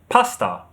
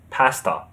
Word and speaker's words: pasta: In British English, we say leisure. Leisure. The stress is on the second syllable.